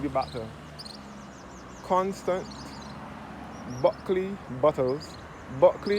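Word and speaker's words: Bulkeley: Buckley is spelled B U L K E L E Y.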